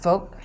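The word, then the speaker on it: 福: It's pronounced folk.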